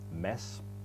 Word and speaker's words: Mads: it's spelled m8ds but it's pronounced mess but you can call